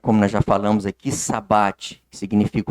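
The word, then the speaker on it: shabbat: No judaísmo, o sábado, pronunciado sabat, né, significa descanso.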